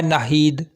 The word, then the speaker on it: नाहीद: नाम है नाहीद। नाहीद नाम के इंग्लिश में स्पेलिंग है NAHEED, नाहीद।